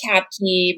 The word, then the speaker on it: Kaapcke: used to it yeah it's just cat key but it looks very scary um because there's two a's in there so um yeah i've